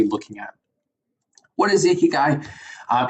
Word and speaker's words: Ikigai: It's actually pronounced Ikigai, okay?